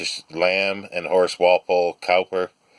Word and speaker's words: Cowper: lamb and horace walpole Cowper cooper actually in the pronunciation i found out recently poet co WP ER but pronounced cooper apparently and Keats Edward Fitzgerald